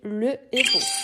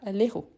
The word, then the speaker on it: héros: Mais ici, c'est un H aspiré. Quelle est la différence? On ne fait pas la liaison. Donc, je dis le héros et pas l'héros.